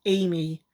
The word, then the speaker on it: Amy: So yeah, it actually is pronounced Amy. It was confusing because he pronounced it as Ami in Japanese. Don't they say Amy with a Japanese accent?